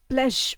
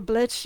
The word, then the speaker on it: Bleggio: In very, very, very old records, the parish of Bleggio was originally called Bledge, but I think, again, it was called blesh or blech, like that, with more closer to a G, but it's spelled with a Z.